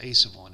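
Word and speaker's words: a₁: And by the way it's pronounced a sub one. It is not pronounced A1.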